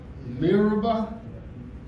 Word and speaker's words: Meribah: You can pronounce that, M-E-R-I? Meribah.